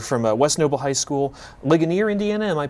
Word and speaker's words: Ligonier: You're from West Noble High School, Ligonier, Indiana. Am I pronouncing that correctly? Yeah, Ligonier.